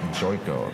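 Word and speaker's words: Jotko: But it's Christoph Jocko up next, or Yotko? I'm not even going to try and pronounce that. Is that on the record, Casey? Christoph Joyko, according to the UFC PR person.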